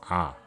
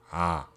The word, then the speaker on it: ㅏ: This vowel is pronounced as ah, or similar to the sound where you make by screaming ah, just not strong, so ah.